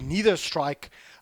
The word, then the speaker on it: Nether Strike: to stop the ultimate, the Nether Strike, or the Neither Strike, however you want to pronounce it, coming through from the Spirit Breaker. I pronounce it Nether, or the Nether Strike,